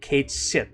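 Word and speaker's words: Cait Sith: Kate sit you know that's how you pronounce the name Kate sh apparently okay um cuz some people said that oh it's going to be cat or something like that you know no no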